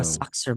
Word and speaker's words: soccer: I think she thought it was the hard C and then a soft C. Oh, a So soccer ball. a And soxer ball.